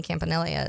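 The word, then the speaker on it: Campanile: stuff and how much of a hit Anthony campanil is yeah we be fun and we have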